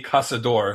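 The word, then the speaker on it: Caçador: Um, I believe the pronunciation is uh, Casa Casador, I believe, is the pron the correct pronunciation. Uh Milton had taught me that that C with the little thing on the bottom is pronounced like an S.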